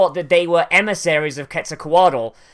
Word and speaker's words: Quetzalcoatl: that they were emissaries of Quetzalcoatl, like signaling his return.